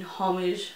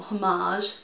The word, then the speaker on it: homage: This one here is the Queen, which is the limited edition one that she made in homage, or homage, depending on how you want to pronounce it, to Queen Elizabeth.